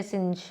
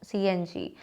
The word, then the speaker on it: CNG: Like we cannot say Becky, no, BCCI, CNG, we don't say Singe, no, CNG.